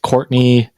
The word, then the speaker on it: Courtenay: Uh, it is pronounced Courtney, but it's spelled like Cortina.